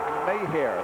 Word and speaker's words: Mayhair: Knowles and the sophomore, Wes Mayhair. That's how he pronounces it.